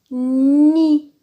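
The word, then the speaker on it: nid: Il y a un D à la fin, mais le D ne se prononce pas. On prononce seulement ni.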